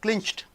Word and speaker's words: clinched: here eight unvoiced constant so you are adding ed so what happens clinched c-l-i-n c-h-t clinched so clincher is single syllable or double syllable clinched single syllable clinched click click clicking